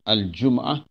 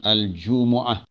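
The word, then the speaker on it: الجمعة: serunya itu surah al-jumu'ah jadi cara bacanya al-jumu'ah yang kita boleh baca dua cara sama Ade di dimatikan huruf mim al-jum'ah ataupun al-jumu'ah metode baris depannya Dome mahal cuma-cuma dalam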